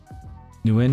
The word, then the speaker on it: Nguyen: Nguyen is pronounced like bang without the B, then win.